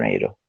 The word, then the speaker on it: Nero: Peter Niro, se escribe Nero el apellido, Ok, como Nerón en sí.